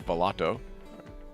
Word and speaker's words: Volato: is matt leotta from valato is that pronounced correctly matt yeah that's correct it's an italian word so we we all